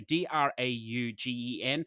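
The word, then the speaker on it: Draugen: of this game Dragan I'm going to say DRA ug en not in a position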